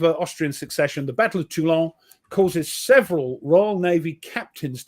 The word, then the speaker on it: Toulon: The Battle of Toulon causes several Royal Navy. Ooh, you pronounced it right.